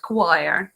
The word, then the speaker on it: choir: some of the things, unpredictable things like English word choir, yeah. If you hear this word, you would never come up with the spelling.